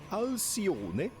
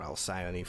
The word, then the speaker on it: Alcyone: It is going to be, and shout out to Ace, as always, for the pronunciation, Alcione, or Alcyone for the less familiar people.